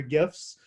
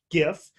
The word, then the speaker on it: GIF: One label reads GIF, G-I-F, and animated looping images, hard G pronunciation, and then a hashtag GIF versus GIF.